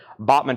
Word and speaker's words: Bachman: have a signed photo from Randy Bachmann of Bachman Turner overdrive and that's actually pronounced Bachman and Kevin ly has that for